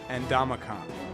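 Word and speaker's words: Ndamukong: his name means House of Spears but it's pronounced andican Stafford Johnson Sue who is the next piece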